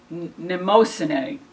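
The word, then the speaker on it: Mnemosyne: of memory has a really impressive name nimosanae and it's spelled with a capital m but it's a fascinating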